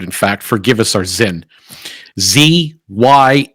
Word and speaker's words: Zyn: Chuck Schumer is going after a product called Zen let me spell that for you we've titled this episode in fact forgive us our Zen zy n zen okay this is a product